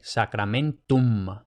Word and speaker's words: sacramentum: complicación, o potencial complicación, de que también hay que leerla al final de la palabra. Entonces los hispanohablantes tendemos a pronunciar la M al final de la palabra como una N, pero no, tiene que ser una M, sacramentum.